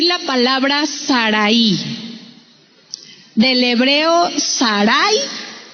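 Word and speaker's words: שָׂרַי: Del hebreo Sarai, con acento en la A, en la segunda A, Sarai, que mire, lamentablemente significa dominante.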